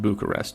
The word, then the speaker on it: Bucharest: we just over here in America we don't pronounce the I it's just Bucharest to us so hey whatever works